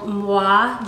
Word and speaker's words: Muwae: the company is called mwah jewelry it's spelled mu wa e and it's like moi like a kiss and they contacted me